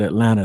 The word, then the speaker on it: Atlanta: said Atlanta you said Atlanta the right way we don't pronounce the second T well you know was